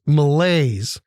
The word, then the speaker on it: malaise: day we do it's from the French malaise two syllables m-a-l-a-i-s-e it is a